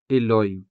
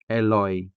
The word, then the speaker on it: iloy: iloy iloy Because this is a native word, we don't say eloy eloy.